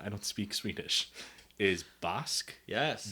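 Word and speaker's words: Bäsk: don't speak Swedish, is Bask. Yes. B-A umlaut S-K. Perfect. But you can also call it Besk, because Bask is just an older way of spelling Besk. B-E-S-K.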